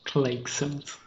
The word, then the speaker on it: Clayxels: It's pronounced Clayxels. Clayxels? It's not pronounced Clayxels? It depends on how you pronounce. All this time you thought it was Clayxels, and we were wrong. It depends on how you pronounce voxels, I guess. Oh, it's like voxels but with clay.